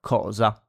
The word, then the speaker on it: cosa: so home, house, or cosa, thing in Italian. And yeah, so ca, co, cu. Just remember that when we have C followed by A, O, or U, it's pronounced like a K.